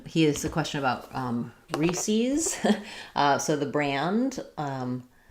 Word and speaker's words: Reese's: So I always learned it as Reese's. That's how we said it where I grew up. Some people say it as Reese's. So if it followed the rules, it would be Reese's, because we have Reese,